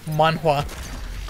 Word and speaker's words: manhwa: i hate that name manwa well that's that's what it's called korean manga where does the waff come from because that's how you would pronounce it in korean man come on i'm